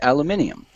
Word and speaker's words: aluminium: See, the funny thing is that I've looked it up on the dictionary, and it's actually spelled both ways and pronounced both ways, aluminum and aluminium.